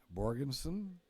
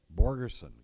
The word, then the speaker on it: Borgerson: Scott Borgensen, or go person. How do you pronounce that for me, please? Borgerson, got it.